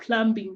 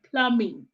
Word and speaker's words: plumbing: Plumbing, someone said that the M is silent. It's not plumbing, but plumbing.